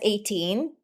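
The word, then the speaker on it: A'TIN: apostrophe, and then TIN, 18. So it's pronounced as 18 or the number 18, symbolizing that fans complete SB19, or that there will be no 19 for SB19 without 18, right?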